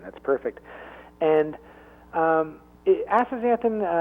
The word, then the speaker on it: astaxanthin: middle of it it's X is pronounced as a Z so it's astaxanthin that's perfect and astaxanthin like I mentioned earlier